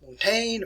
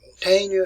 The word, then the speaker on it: Montaigne: talked about earlier today montaigne or montana if you want to pronounce it that way here uh case